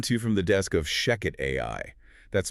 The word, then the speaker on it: Shechet: voice generators running this, please make sure to pronounce that Sheket rhyming with chicken.